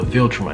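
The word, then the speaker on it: Viltrum: aliens called the vultureman so the philtrum is how you pronounce it anyway the vulture mites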